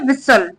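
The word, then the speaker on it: whistle: बजाई the elephant विसल इसको बोलते है विसल इसमें जो टी होता है ना वो साइलेंट होता है ससल का मतलब होता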